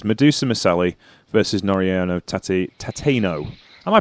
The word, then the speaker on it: Tateno: first match is Medusa Miselli versus Noriano Tati Tateno. Am I pronouncing that right? Chelsea Tateno. Yeah. Tateno.